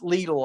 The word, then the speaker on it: Lidl: It's called, I always mispronounce it. It's Lidl, I think is how it's pronounced.